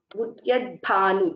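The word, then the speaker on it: उद्यद्भानु: So we should take care to pronounce these Samyuktaksharas. Udyat Bhanu, the also should be heard, Bha also should be heard.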